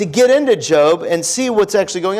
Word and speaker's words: Job: Now, some of you are like, Job, I thought his name was Job. Okay? That's fine. You can mispronounce it for the next 20 seconds. From now on, it's Job, okay? It's just Job.